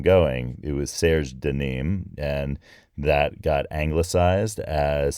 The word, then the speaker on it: Nîmes: But it's pronounced Nîmes.